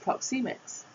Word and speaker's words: Proxemics: Pronounced Proxemics.